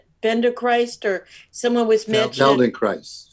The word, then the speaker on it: Feldenkrais: Feldenkrais. How do you say it again? Feldenkrais.